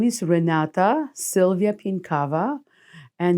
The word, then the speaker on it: Pienkawa: spell it uh my name is Renata Sylvia pinkava and it's spelled first name r e n a t